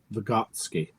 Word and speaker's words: Vygotsky: Vygotsky.